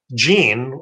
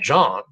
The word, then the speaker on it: Jean: realize that the name gene which is how you pronounce it in english j-e-a-n now of course in french we pronounce that john and jean in the